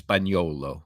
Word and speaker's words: Spagnuolo: Steve Spagnuolo. Well. Yeah, probably really in Italy, it's Spagnuolo.